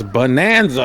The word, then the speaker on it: Bonanza: Why is everyone pronouncing that wrong? It's Bonanza.